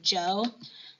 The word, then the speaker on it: Zhou: French guy trying to say the name Joe. And so, maybe write that in, like Joe, J-O-E, right above the Zhou. So we should, when we check your notes, see you writing that little pronunciation guide in for yourself.